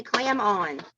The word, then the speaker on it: Clamon: different we just say clam on well that's a good way good way to remember if you can remember that clap on clap off commercials you can remember clam on that's a good analogy